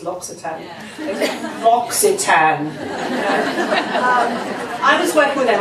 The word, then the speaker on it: L'Occitane: You've got Joe Malone, you've got L'Occitane, and I should just quickly tell you how to pronounce L'Occitane. Yeah. L'Occitane.